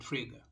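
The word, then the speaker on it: Frege: philosophy with the mathematics fraga it is spelled f-r-e-g-e but you pronounce it trigger he is the one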